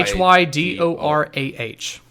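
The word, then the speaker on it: Hydorah: hyra hyra yeah yeah that's h y d o wait h y h y d o r a h r o a h or is it o it's hydor ah ah yeah you're right you're right I thought I was thinking Hydro ah mhm but ah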